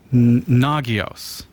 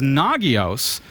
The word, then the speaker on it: Nagios: the pronunciation right because Nagios was founded by Ethan Galstead, who says the NA sounds like na, the GI sounds like the first part of geese, gee, and o sounds like the last part of verbose.